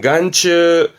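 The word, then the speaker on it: 眼中: 예, 안중 발음은 간츠 뭐 그런 말 쓰지 않나요?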